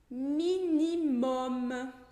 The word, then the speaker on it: minimum: Outro exemplo, minimum, que é mínimo, mínimo?